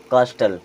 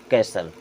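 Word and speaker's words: castle: हो सकता है आपको लगता हो इसे हम क्या पढ़ेंगे, कास्टल। क्या पढ़ेंगे, कास्टल। लेकिन इसे हम क्या पढ़ते हैं, कैसल।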